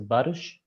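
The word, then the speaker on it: Barış: not doing wrong uh it's a special letter actually in Turkish this the pronunciation is Bish Bish all right yeah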